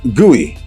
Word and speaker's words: GUI: OFTEN PRONOUNCED GOOEY, GUI is short for what well-known three-word tech term?